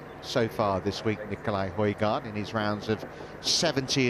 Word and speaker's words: Højgaard: Well, Alistair pronouncing it correctly there, Højgaard, but kind of getting messages from Nicolai that they want to go with Højgaard.